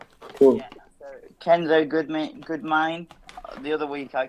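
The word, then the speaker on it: Goudmijn: So Kenzo Goodmine. The other week I called him Goodminge.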